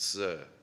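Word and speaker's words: tzur: One of the titles we just said is Yahweh our rock, T-Z-U-R, pronounced Sir.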